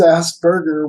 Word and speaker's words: Asperger: if you're you know abroad they call it asperger's but you know han's ass burger was the dude so you know i pronounce pronounced that way and so what that